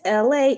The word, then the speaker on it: Elay: My name is LA. LA, pronounced like LA, like this city.